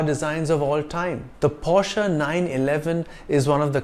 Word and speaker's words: Porsche: cars SUVs and sedans it's not pronounced Porsche but Porsche this brand got its